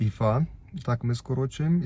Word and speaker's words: ІФА: Не ІФА, а ІФА. Так ми скорочуємо і так вимовляємо цей тест.